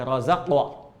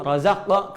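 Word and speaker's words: رزقنا: Mabniun 'ala sukun, ditetapkan dengan sukun karena itu dibacanya sukun, bukan razaqa tapi razaqwa. Razaqwa. Kenapa dibaca sukun? Razaqna, karena ada na bersambung dengan na dari kata nahnu setelahnya.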